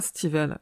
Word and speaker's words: Stephen: Je vais m'efforcer à prononcer Stephen au lieu de Stephen King, car en anglais, Stephen se prononce bien Stephen.